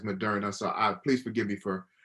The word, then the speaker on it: Moderna: I know one of my administrators hit me up, Eljon, it's not Moderna. Okay, it's Moderna. So please forgive me for not pronouncing it.